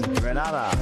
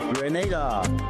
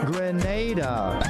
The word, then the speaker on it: Grenada: So today, like we Germans say, we are in Grenada. But I heard in English it's called Grenada. Say it right. Grenada.